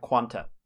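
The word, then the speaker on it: Qan[T]: i'm here to help it's pronounced quan with a t at the end yeah uh for real it's pronounced quanta yeah quantum so it's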